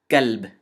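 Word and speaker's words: كلب: The first word is kalb, with a kaf. And the second word is qalb, with a qaf.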